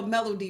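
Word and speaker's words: Mellodye: Just make sure you spell melody right. All right. M E L L O D Y E. Okay. Pronounced like music. Not no Melanie.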